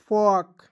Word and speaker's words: folk: FOLK फॉक।